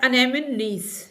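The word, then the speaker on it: anemones: F question है हाउ इज़ the word अनेमनीज pronounced, जो word अनेमनीज है ये कैसे प्रोनाउंस होता है, ये इसी तरह से प्रोनाउंस होता है अनेमनीज।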